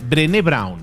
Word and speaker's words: Brené Brown: se llama brain brown tal cual suena con las cinco letras perenne y con acento en la final drene brawn drene brawn es una